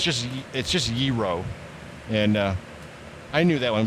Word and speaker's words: gyro: That Greek sandwich that people mispronounce. That's lamb meat. Gyro.